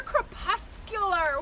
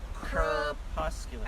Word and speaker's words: crepuscular: But they're crepuscular. Word of the day! Yeah, Say that again. Crepuscular. Say it with me. Crepuscular.